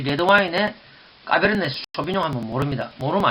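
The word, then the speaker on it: Cabernet Sauvignon: 자, 원래 이 발음은 이런 식으로 하면 안 됩니다. 어떤 식으로 하느냐? 잘 듣고 한번 따라해 보세요. 까베르네 쇼비뇽. 까베르네 쇼비뇽.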